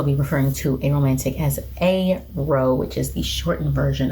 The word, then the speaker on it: aro: I will also be referring to aromantic as aro, which is the shortened version of aromantic. Sidebar. For about 6 months, I want to say in 2015, sometime around then, I was pronouncing it as arrow.